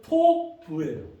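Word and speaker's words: טוב: 발음은 토부예요.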